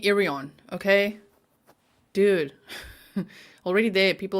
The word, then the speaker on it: Irion: name get it right it's not Naomi irony it's Naomi irion okay dude already there